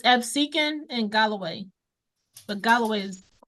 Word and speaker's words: Absecon: How do you pronounce that? Absicon? It's Absecon and Galloway, but Galloway is the one I'm in.